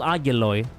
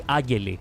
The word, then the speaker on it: Agiloi: The reason why it has the oi, as they actually spell it, it's one of the exceptions in Greek, in the Greek language. Oi, like an O and an E, equals just an E.